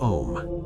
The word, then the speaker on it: Om: The ah sound rises from the abdomen, you feel the vibration in your belly. The oo sound passes through the throat, you feel the vibration in your chest. The m sound closes on the lips, you feel the vibration in your head.